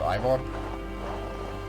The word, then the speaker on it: Eivor: Like Eivor would be pronounced Ivor, not E. It seems to be a bit of an odd choice, given that they actually have a Danish actor playing Ivor, both the male and female version.